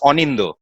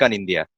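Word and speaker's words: Anindya: so on lighter note in Bengali a for orange okay so in India it's not a for apple okay so that's how we pronounce so it's onindo onindo yes okay okay so you have two Orange okay yes but non-bengalese and the foreigners my name like on India okay so it's very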